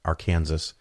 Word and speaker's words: Arkansas: you don't know it that's the proper way to say that state below Missouri Arkansas it was very common